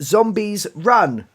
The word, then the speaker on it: Zombies, Run!: Well, there's a comma in there as well, so it's Zombies Run! In a bit of a panic state, yeah. So every time we mention it, we have to leave the pause and get very excited.